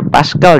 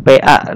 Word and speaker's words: Pascal: Ini bacanya Pascal ya, jangan PA.